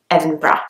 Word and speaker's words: Edinburgh: at the end but in English you can't hear the D you can't hear the H it's just evan breath the next one is